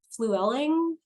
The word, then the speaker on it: Flewelling: I'm gonna make sure I have your name pronounced correctly fluelling is that right that's exactly right yeah yeah